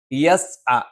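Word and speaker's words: يَسْعَى: യസ് അ, ഇവിടെയും യേ എന്ന് ഉച്ചരിച്ചു പോകാനുള്ള ഒരു സാധ്യതയുണ്ട്. അത് യേ എന്ന് ഉച്ചരിക്കുന്നില്ല എന്ന് ഉറപ്പുവരുത്തിക്കൊണ്ട് അത് യ എന്ന് തന്നെ പ്രത്യേകം ഉച്ചരിക്കാൻ നിങ്ങൾ ശ്രദ്ധിക്കണം.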